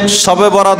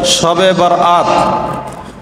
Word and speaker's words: শবে বরাত: আমাদের উপমহাদেশে এই রাত্রটিকে শবে বরাত বলা হয় শুদ্ধ উচ্চারণ হলো শবে বারাত শবে বরাত বরাত অর্থ হলো মুক্তি